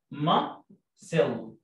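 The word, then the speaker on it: muscle: كلمه عضلات يعني ماسل، كلمة عضلات يعني عضلات يعني ما سيل، طبعا السي هنا سايلنت شورت يو، ما ما سيل السي هنا سايلنت، وانا بحفظ الكلمة عارف ان الكلمة دي فيها حرف ما بنطقوش، ما سيل.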